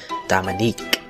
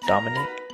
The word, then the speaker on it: Dominic: didn't realize it because she pronounced it Dominique no one else raised their hand so I figured it was me and raised mine right after I did I tried to say uh it's Dominic but I guess I